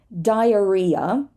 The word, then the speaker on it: diarrhea: not say rhyme rhyme diarrhea we do not say the H anywhere in this case